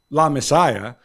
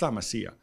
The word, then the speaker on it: La Masia: Well, to me, says nobody, when he goes out and he calls it La Messiah, he's surrounded by people around him who are like, boss, but by the way, no biggie, but it's La Masia, right?